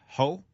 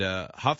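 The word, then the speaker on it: Hough: Brooke Burke's dancing partner, Derek Ho. Derek Huff. Huff is how you pronounce it.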